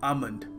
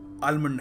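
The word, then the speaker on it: almond: shop प जाएंगे तो यह क एक किलो आमंड आलमंड नहीं देखिए अगला शब्द है एलीट एलीट इसको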